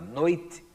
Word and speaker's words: noite: noite, gente, pente, bode, tudo que termina com o som de I, mas que não é pronunciado de forma forte no final, não é tônico, para usar um termo gramatical que não precisa ser obrigatório para as crianças, tá certo? Vai ser escrito com E.